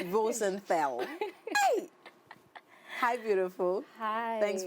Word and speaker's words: Rosenthal: Properly pronounced. Rosenthal.